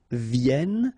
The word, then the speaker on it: viennent: Vienne. So remember, as usual in French, when we talk about conjugation, ENT at the end, you don't pronounce it here.